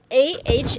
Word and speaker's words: a: A is pronounced as a. It's just like A in father. It's like saying ah when you go to see a dentist with your mouth wide open. Ah.